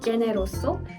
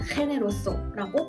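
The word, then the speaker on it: generoso: 스페인어와 비교를 해 보자면 가장 대표적인 예시로 발음이 다른 경우가 있는데요. 반대한이라는 뜻을 가진 용어의 generous라는 단어를 예시로 들어보면 이테리어와 스페인어의 철자는 같지만 이테리어로는 제네로소, 스페인어로는 헤네로소라고 발음이 됩니다.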